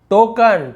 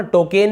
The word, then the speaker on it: टोकन: फिर देखिए sunken, टोकन, टोकन तो आपने सुना होगा, टोकेन नहीं बोल रहे हम, टोकन बोल रहे हैं।